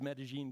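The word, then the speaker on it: Medellín: And since then, many, many cities, many I worked with, this is Medellin, Colombia, Sue, that's how to pronounce it.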